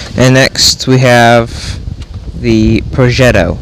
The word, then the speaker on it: Progetto: And next we have the Progetto. I called it Progetto in the first video I did with the P44, and some of my clanmates are like, you idiot, it's Progetto, not Progetto, so sorry I don't